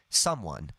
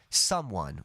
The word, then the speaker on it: someone: We say someone. The stress is on some. Someone.